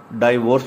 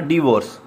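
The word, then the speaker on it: divorce: आगे बास दोस्त को तलाक, इसकी उर्दू है डाइवोर्स पढ़ते हैं, डाइवोर्स नहीं कहना, डिवोर्स, डिवोर्स जो सही इसका वर्ड है वो डिवोर्स है।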